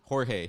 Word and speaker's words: Jorge: So they were saying that George fought Jorge. You got me talking. Jorge. He was fighting with his hands down. Come on, man. Like, if you're gonna say it right.